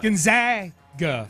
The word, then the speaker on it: Gonzaga: gets mispronounced you the coach of Gonzaga yeah Gonzaga I pronounced it right okay what are we saying